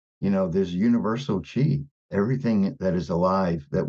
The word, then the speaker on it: qi: you didn't know already I like to spell it c-h-e-e you know because even if you spell she even died it still could be yeah a little confusing but if you say chi like oh I've heard of that like you